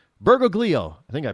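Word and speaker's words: Bergoglio: Mario Berg uh bergo gleo why can't I pronounce his last name bergoo b e r g o g l i o bergoo I think I pronounced that correctly and then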